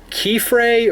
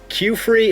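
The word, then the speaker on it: Qifrey: right here it's name it's key fray or cue free it's it's something really weird but I'm pretty sure you know Qi makes the K sounds I'm gonna go with K free again hopefully that's right but if you guys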